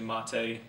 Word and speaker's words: MATE: This Mate, now some people pronounce this Mate, but it's actually Mate in the Linux community.